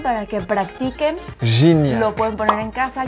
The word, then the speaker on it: Gignac: Guignac. ¿Dónde ves una U? Guignac. ¿Dónde está la U? ¿Es la G? Sería Gignac. Gignac. Ay, bueno, pero es mejor Guignac. No, Gignac.